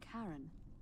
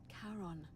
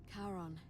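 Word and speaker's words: Charon: it's just as you described it only your pronunciation is a little off the name you heard wasn't Karen it was c h a r o thank you for spelling it out for me literally karon the Fairman of the Dead karon who in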